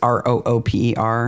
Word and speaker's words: Rooper: Jemima, I'm guessing her last name is actually pronounced Roper, but it's Rooper.